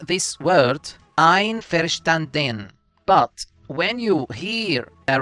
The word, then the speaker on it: Einverstanden: Einverstanden. Einverstanden. Einverstanden.